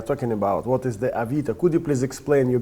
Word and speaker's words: Avito: It's actually not a good name because in Russian it's pronounced Avita, so it's not even Avito.